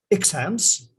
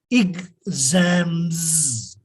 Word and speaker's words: exams: It is not pronounced exams, it is exams. Exams. Exams. X stands for X, and S here becomes Z, as in zoo, as in busy.